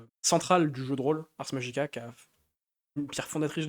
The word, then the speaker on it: Ars Magica: sur sur l'historique de Arc Magica? Ars Magica, ouais. D'ailleurs, si on veut être un peu tatillon sur la prononciation, ce serait Ars Magica. Être latiniste sur le...